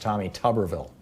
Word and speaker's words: Tommy Tuberville: me to say that tommy tuberville is actually pronounced tommy tuberville like you know tuberville so i'm i'm assuming